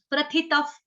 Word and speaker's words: प्रथितः: उसके बाद क्या बोलेंगे, त और विसर्ग का उच्चारण करेंगे, तफ, तफ, प्रथितफ।